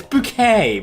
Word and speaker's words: Bucket: It's like Millicent Bucket from Keeping Up Appearances. It's like, it's bouquet, please.